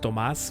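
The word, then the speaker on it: Tomás: And everyone wanted Thomas because it's pronounced Tomas, which sounds like dumbass.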